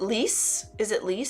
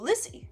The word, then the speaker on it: Lissy: Sven and is it Lise? Oh, Lissy. You actually let us know how to pronounce it.